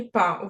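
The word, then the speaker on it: pas: це теж часта помилка учні говорять пас Ні не пас па і приклади вай я працюювапа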